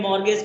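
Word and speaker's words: mortgage: मॉर्गेज loan में T silent रहता है 1 लाख। टी साइलेंट मॉर्गेज पढ़ेंगे उसको, ठीक है।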